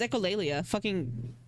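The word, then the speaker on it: echolalia: Is it not pronounced like that? Oh, it's echolleia. gets embarrassed. Echoli. Noia. Echoleia. You know that makes a lot more sense.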